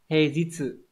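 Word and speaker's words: 平日: Đấy, chữ bình sẽ đọc là he, chữ nhật có hai cách đọc là Trong đây người ta liệt kê là Nichi và Jitsu, thì trong trường hợp này nó phải đọc là Jitsu nhá. He Jitsu mới là chính xác.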